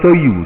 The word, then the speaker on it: soju: arak arak Korea n rejaan dia soju tapi disebut sebagai Soyu Soyu ni arak Korea